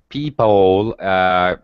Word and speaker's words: people: The first syllable, P, is higher pitch. It's stretch. That's so much better. And the pull is very fast. People. Yeah, that's so much better. Because the second syllable is unstressed. So it's just a very fast schwa sound.